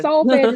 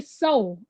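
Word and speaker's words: solfège: So solfege is spelled SOL. And that G tone, that fifth one, we used to say soul. Teachers didn't really embed into us. It's soul. It's not soul.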